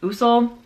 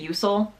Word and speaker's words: Usul: She was a red Usul. I pronounced it Usul. I know it's pronounced Usul, but I'm not going to pronounce it that way because that's not how I grew up pronouncing it.